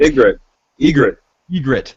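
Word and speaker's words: Ygritte: Yvette, how do you pronounce her name? Yvette, yeah. Yvette? Egret.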